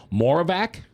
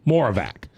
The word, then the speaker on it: Moravec: as a radio guy, I spell it MORE-OF-VACK. Isn't that, Frank? That's how we do it, right? Moravec. Like more of that, more of this.